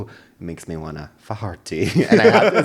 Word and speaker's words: Faherty: How do you pronounce it? Faherty? No, there's a brand, and it's a high-end brand. Faherty.